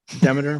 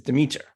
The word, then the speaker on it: Demeter: God, episode 2 of season 1, Greco-Roman style, Demeter versus Cupid. And I'm going to go first. And I chose, or fate chose for me, Demeter. Of course, I've been saying Demeter my whole life, which maybe is not going